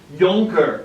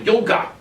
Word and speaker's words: Junker: And Otto von Bismarck was a Prussian Junker, spelled like junker literally, which is the German term for nobleman. But I like saying Junker better because it just sounds more awesome than nobleman.